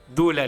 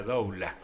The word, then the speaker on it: Doula: de los servicios editoriales de dula libros aunque se escribe doula libros con lo cual nos confunde a todos los que no sabemos en principio De dónde viene la palabra doula que es dula qué es doula libros